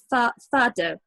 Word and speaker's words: fado: a one on the tiles and also on fado music, which Yes. am I pronouncing it right?